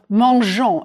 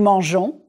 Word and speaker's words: mangeons: The E following the G of mangeons is just to keep the G soft. Prononcez, je mange, nous mangeons, il mange.